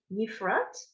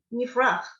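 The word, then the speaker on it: יפרח: Oh, Yes, you have to hear that oh, chet. oh, you do. Okay, it's not silent. Yifrach. Wait, stop 1 minute. A hey is silent at the end, but the chet, you have to hear it.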